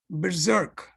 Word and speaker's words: berserk: expert in grammar i i wasn't sure if neha used the pronunciation of berserk correctly berserk that's the pronunciation means going crazy couldn't agree less what